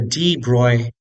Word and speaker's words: de Broglie: Next, calculate the de Broglie wavelength. That's how it's pronounced.